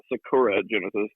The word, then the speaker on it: Sakura Genesis: There's a little bit of a stress. It's Sakura Genesis, like stress on a different syllable, but yeah.